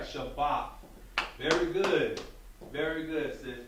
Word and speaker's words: Shabbat: The first time you had it right, Shabbat. Very good. Very good, sis. Very good. Okay. So now we have Shabbat, which should mean Sabbath.